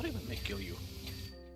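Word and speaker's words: kilju: That sounds like kill you. Hold on, let me try to go to Finnish brain. Kill you. Yeah, that's how you pronounce it.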